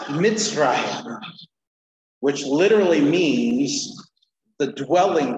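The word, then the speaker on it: Mizraim: So it's pronounced Mitzrayim, which literally means the dwelling place of Ham.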